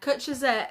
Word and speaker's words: cwtch: Yeah, cwtch is definitely a Welsh word.